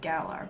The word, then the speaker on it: Galar: It's pronounced Galar, but I always pronounced it like Galarian.